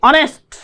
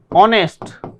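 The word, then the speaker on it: honest: ऑनेस्ट। ऑनेस्ट।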